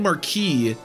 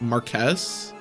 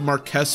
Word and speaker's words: Marquess: I keep saying Marquis, but they said it's pronounced like it's spelled, so it'd probably be like Marquess. We'll say son of Marquess Foray.